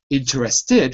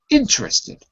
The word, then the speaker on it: interested: the i in interested that means that the stress is on the first syllable okay so it's not interested or intered it's interested say that for me